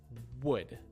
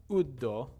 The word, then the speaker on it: wood: with these four words first one is wood wood right not ud not like that but wood would bring